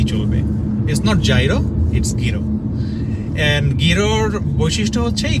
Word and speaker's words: gyro: তো ওরা এই খাবারটাকে যেটা প্রোনাউন্স করে, যেটার অ্যাকচুয়াল উচ্চারণ সেটা হচ্ছে গিরো, ইটস নট গিরো, গিরো, মানে জিটাতে একটা একটা চাপ দিতে হবে আপনাকে বলার সময়, গিরো গিরো।